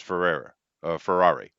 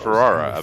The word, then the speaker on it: Ferrari: Ferrari. Yeah, I get it. That's why I said Ferrara because I thought it was the lady. I mispronounced it.